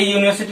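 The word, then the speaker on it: university: जी नहीं, इसका अगर हम उच्चारण करते हैं तो क्या होता है, यूनिवर्सिटी। क्या होता है, यूनिवर्सिटी होता है, जो इस तरह से लिखा जाता है।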